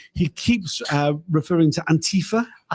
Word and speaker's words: Antifa: Donald Trump this this misprononunciation of Antifa as in anti-fascist. It's pretty obvious why the the name is pronounced the way it is given what it actually refers to.